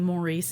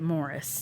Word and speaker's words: Maurice: I think it is Morris. but it's spelled Maurice. So I will want to say Maurice, Oh, yeah. but he was on a TV show at some point, and they pronounced it Morris. Okay. So I will pronounce it Morris because I think that's how it's pronounced.